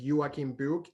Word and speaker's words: Joakim Book: and my handle is yuakimbuk the way my name is spelled j-o-a-k-i-m-b-o-k book like like a book you would read um i also gather